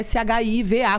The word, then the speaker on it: Shiva: E o Shiva dela é Shiva, como se fosse a Shiva hindu.